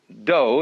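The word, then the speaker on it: 道: the science of Judo do is the way the Japanese pronounced da Jew means gentle Judo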